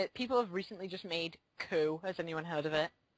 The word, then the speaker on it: Coup: have recently just made Coup. Has anyone heard of it? Nope. It's, well, the way you spell it is C-O-U-P. Oh, okay. But still, no. The French term for coup.